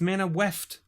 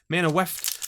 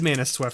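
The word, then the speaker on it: Manaweft: And a foil Mana Weft sliver. Why do I say Mana Sweft? There's no S in there. It's Mana Weft. Mana Weft. I've always said Mana Sweft sliver, and I don't know why.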